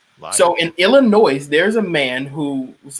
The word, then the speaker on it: Illinois: ethics on Illinois's yeah it is silent because it is a French word Illinois is French the O is free